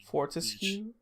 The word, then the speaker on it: Fortescue: Fortescue.